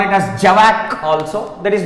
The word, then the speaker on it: javac: In short, we will call Java compiler as JavaC. JavaC means Java compiler. Many of them would call it as JAVAC also.